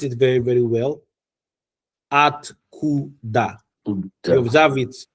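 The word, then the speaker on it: откуда: Atkuda. You observe it. It was three syllables. Yeah. Atkuda.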